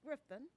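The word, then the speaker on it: Grifton: And that's Griffin. Griffin is pronounced Griffin.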